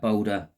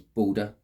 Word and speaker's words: Balder: Okay, up on that tied to that boulder is the god Balder. It's pronounced slightly different. It's Balder, okay, not Boulder.